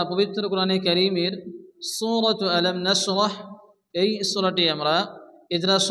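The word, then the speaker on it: نَشْرَحْ: আলাম আলাম নাশরাহ, এখানে বড় হা আসছে, র এবং হা একসঙ্গে সংযুক্ত করে পড়তে হবে এবং হাকে মুখ দিয়ে বাতাস বের করে উচ্চারণ করে পড়তে হবে। নাশরাহ নাশরাহ, লাকা লাকা, সাদরাকা,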